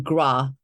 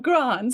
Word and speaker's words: Grant: And I mean, that's one syllable, but the Aussies managed to call him Gra. I'm like, really? You've committed to the first three letters. Just say the next two, Grant, not Gra, Grant.